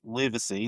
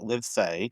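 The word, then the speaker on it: Livsay: It's spelled L I V S A Y. And everyone always wonders how to say it. So it's Livacy, not Livay.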